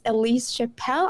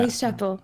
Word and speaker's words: Ellise Chappell: It's Ellise yeah. Chappell. That's how she called it. Ellise Chappell. Yeah. Ellise Chappell.